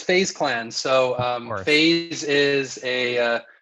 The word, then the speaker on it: FaZe Clan: Am I even saying it correctly? It's FaZe Clan.